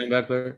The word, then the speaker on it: Schembechler: Yeah, Schembechler, yeah, and the Fab Five, yeah, basketball Fab Five, team.